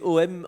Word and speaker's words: AUM: Est-ce que d'abord on a bien prononcé AUM Bio 5? Est-ce que c'est OM, Homme Bio 5, c'est bien ça?